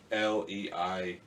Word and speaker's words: Schleich: Schleich. Schleich. I think Schleich. I believe it's German.